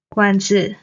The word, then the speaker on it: 馆子: 走了走了 Then 馆子 restaurant. Same 馆 is the third tone. 子 is the neutral tone.